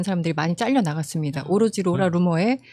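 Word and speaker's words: Laura Loomer: 제일 먼저 생각난게 그 로라 루머예요. 로라머. 로라 루머라고 30대 초반에 그 여성 직업은 없어요. 직업이 나는 루머를 퍼트리죠. 예. 조금 그 스펠링은 다르더라고요. 저도 그 루머인 줄 알았는데 다른 루머예요.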